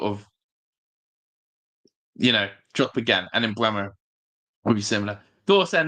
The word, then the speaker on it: Mbeumo: Pronounced Mbeumo, not a fish.